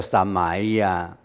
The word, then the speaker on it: samaya: 那玛雅三昧耶，你为什么那个三玛 SAMAYA 怎么念做三玛雅三昧耶啊？